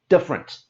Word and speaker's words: different: And you can see in the word, there's the extra E that we don't say. This is a big word, so we say it quickly, different.